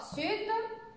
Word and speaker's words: sud: Seulement le D ne se prononce pas. Les autres, on prononce la fin. Sud, est, ouest, on prononce la fin du mot.